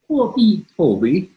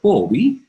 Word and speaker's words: Huobi: How do you say Huobi? Huobi. Yeah, you have to inflect a little bit. Huobi. To get it right.